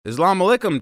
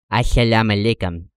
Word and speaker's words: Assalamu alaikum: Islam alaikum, Taliban. Mr. Bizet, I don't think that's how you say it. How I say what? Assalamu alaikum.